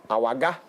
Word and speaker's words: Awagah: Yeah, and we've got Awagah.